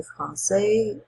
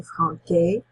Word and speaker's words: français: In this particular word, le français, if you didn't have the CD in there on your C, it would be le franquais.